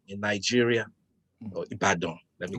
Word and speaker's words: Ibadan: He was a national hero, fought a big fight in the city of Ibadan in Nigeria, or Ibadan. Let me pronounce that properly.